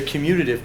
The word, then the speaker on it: commutative: starts with the C close you're emphasizing the wrong syllable but the wrong syllable but it's close yeah it's it's the commutative property you like you commute down the freeway you can travel right